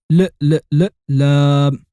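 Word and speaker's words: لام: And not only does it look like a mirrored L, but does also sound like the L of lollipop. You say lam.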